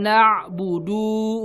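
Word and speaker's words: نعبد: Iyyaka na'budu wa iyyaka nasta'in. Na'budu. Nah, du-nya suka dipanjangin.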